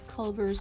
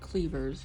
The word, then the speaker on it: Culver's: We went to Culver's. My 96-year-old father-in-law pronounces it Cleaver.